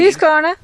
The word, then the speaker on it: Husqvarna: Husqvarna.